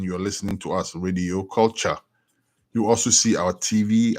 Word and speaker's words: Kulcha: Download Radio Culture. Radio Culture. Culture is spelled Kulcha, as you can see up here.